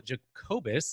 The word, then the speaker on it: Jacobus: I am here with Michael Jacobus. Is that pronounced correctly?